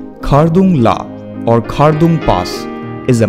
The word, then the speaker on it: Khardung La: Khardung La or Khardung Pass is a mountain pass in Ladakh region of Indian state of Jammu and Kashmir. The local pronunciation is Khardung La or Khardung La.